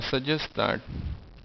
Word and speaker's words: suggest that: you I suggest now because there are too hard sounds one after the other this T and this T you only need to pronounce one T in that case you're going to say I suggest that where he just said suggests that's all you you said you did not say T I suggest that because